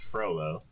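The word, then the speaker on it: Frollo: name of the villain is frolo that's why I don't remember his name it rhymes with Frodo Ando anyway are you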